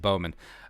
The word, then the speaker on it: Bonham: I don't know about y'all, but I feel pretty good about the Vikings grabbing the second seed, last name pronounced Bowman.